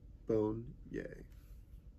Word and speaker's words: Bonnier: I enclosed my photo my name in case you wouldn't know is pronounced bone yay Amanda studied beignets